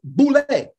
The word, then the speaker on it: Boule: The Boule is an acronym for Sigma Pi Phi, demons, and pronounced Boule.